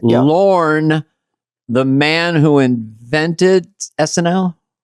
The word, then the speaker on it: Lorne: and in life, but the people that call him Lauren and they spell it Lauren, like the female name, is pretty interesting because